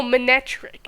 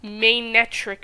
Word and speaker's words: Manectric: top of my head oh manectric it's main metric apparently but it's so like